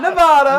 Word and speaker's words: Nevada: And we have to say it right because a lot of people don't. Nevada. Not Nevada. No. It's Nevada.